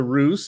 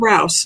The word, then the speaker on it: Rouse: uh uh dr russ let me know if i am saying your last name wrong because this is what i am infamous for it is rouse not roosevelt dr rouse thank